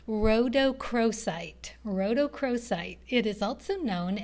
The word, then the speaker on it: rhodochrosite: Yeah, this is called, let's pronounce this correctly, rhodochrosite.